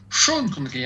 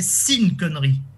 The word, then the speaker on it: Sean Connery: Et Sean Connery, il faut prononcer Sean Connery. Hein. Oui. Oui, Ah, Non, c'est mais vrai, hein. quand j'étais gamin, mon père appelait Sin Connery.